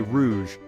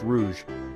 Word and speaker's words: rouge: that's right it's red in French we say Rouge pronounced Rouge imagine a ripe strawberry a blooming rose or